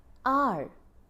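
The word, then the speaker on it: hour: sound coming out right that H seems to be silent there so we use an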